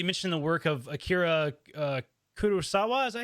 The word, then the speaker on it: Kurosawa: and you've specifically mentioned the work of Akira Kurosawa. Is that how you say that? I want to make sure I'm pronouncing it correct.